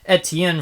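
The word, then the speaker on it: Étienne: Railway show you have five engines from Europe ET Tien from France Bo yeah finally I pronounced something correct in fren two points for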